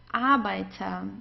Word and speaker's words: Arbeiter: So in those cases, whenever we have a vowel right before the R, we pronounce the R just like an A. You don't hear it actually at all. It's Arbeiter.